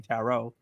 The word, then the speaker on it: Tarot: pronounce this film because I was saying tet this whole time not realizing is actually tarot because you know I never heard the word outside of other people saying to call it Tarot um the synopsis is